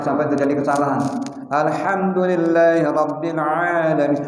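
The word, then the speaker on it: العالمين: Alhamdulillahi rabbil alamin. A jangan a alamin. Kenapa? Huruf ain bukan huruf hamzah atau alif.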